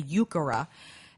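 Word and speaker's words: Heuchera: of it as well yukara is spelled like h u e c h e r a or something like that but that's a really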